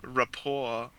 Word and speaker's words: rapport: I don't think a rapport we would usually say it without pronouncing the T because it's from French. Rapport. Okay. Um rapport.